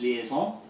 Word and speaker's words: liaison: Services liaison yes and it's actually pronounced liazon and my name is